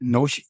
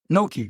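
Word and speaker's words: gnocchi: I don't get the pronunciation right, but is it Noi? Nope. Koshi. Kinoshi. No. Koshi is right. Noki.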